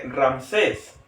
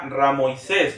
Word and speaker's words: Ramsés: hemos escuchado comúnmente el nombre de Ramsés la pronunciación correcta sería ramoisés que qué querría decir